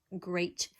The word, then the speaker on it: great: It's not like we would think it would be, because the vowel sound we hear is A. And we know that when we have two vowels that go together, it's usually the first one that does the talking and the second one doesn't. Well, here the A says that great.